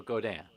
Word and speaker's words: Godin: It's Godin. It's French, so Godin. It would be pronounced.